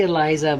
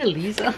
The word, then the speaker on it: Elisa: Eliza Ian noa's book Elisa am I saying it wrong the whole time I always say Eliza but I guess it was Elisa so I'm sorry I'm sorry guys that's the wrong pronunciation yeah but this one